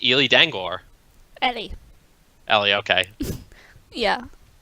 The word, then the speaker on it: Ely: Ellie. Ellie, okay. Yeah. It's just how a woman pronounces their name, so I thought it might be different.